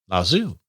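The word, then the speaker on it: Lao Tzu: where you are heading la zoo that's how you pronounce this name the probably not the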